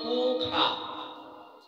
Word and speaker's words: পূষা: এই দেখুন, এই স্বস্তি বাচনে মন্ত্রটা আছে স্বস্তি ন পূষা, মানে মূর্ধন্য স আকার, কিন্তু এখানে উচ্চারণ হবে স্বস্তি ন পোখা। লেখা আছে স, কিন্তু উচ্চারণ করতে হবে খ।